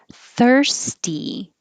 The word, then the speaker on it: thirsty: in both vowels russia thirsty and this s sounds like an s thirst t followed by a voiceless t this s sounds like